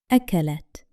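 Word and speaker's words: أَكَلَتْ: However, for the pronoun hiya, the ta has sukun, the small circle above it, so the ending has no vowel, and only the letter ta is pronounced with a clear, stopped sound, akalat.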